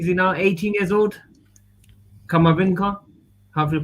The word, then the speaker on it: Camavinga: how do you see now 18 years old kamavinka have you pronounced it right yeah yeah 18 years old